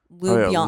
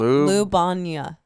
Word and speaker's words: Ljubljana: Ljubljana. Ljubljana. God, we suck right now. I got it right here. Capital of Slovenia. Yeah. That's where it was because you had played that festival. Ljubljana.